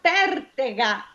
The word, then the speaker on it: pertega: La parola pertega, cioè pertica. Sulla prima E, Sì, è aperta, sì, quindi è sempre sdrucciola.